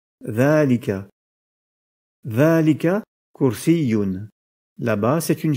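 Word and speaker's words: ذٰلِكَ: Du point de vue de l'écriture, le pronom démonstratif dhalika présente une particularité similaire à celle de hadha, dans le sens où la lettre alif, qui est prononcée à l'oral à la suite de la lettre dhal, n'est pas indiquée à l'écrit. Ce pronom démonstratif s'écrit donc dhalika, mais se prononce dhalika.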